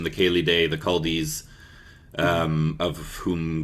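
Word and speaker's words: Céli Dé: the the there's various views on this the Kelly which is the correct pronunciation although many I mean the term kaldi is widely used it was I'm not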